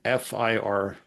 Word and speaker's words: FIR: also a tool called AFMG FIR maker or fear maker or fur maker. We see it pronounced a few different ways. What that means is it's making FIR filters which are um